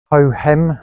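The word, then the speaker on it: Hohem: last couple of years on a hem I think it's pronounced h o h e m gmal and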